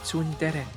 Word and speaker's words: tsundere: chair dears hey that we know that it's pronounced tsundere but you don't want this use that in an english sentence so we just anglishify it and say it's under the pringle